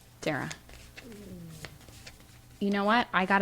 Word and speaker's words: Dara: I think I pronounced it both ways last week, but I think it is Dara. Dara.